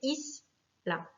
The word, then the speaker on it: isla: Le mot isla, pareil, finit par une voyelle, un A, donc c'est la première syllabe qui va être accentuée, isla.